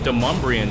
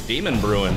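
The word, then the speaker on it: Demonbreun: oak on Music Row on how they pronounce it de l'homme Briand Street right I used to think it was demon brewing but that was serious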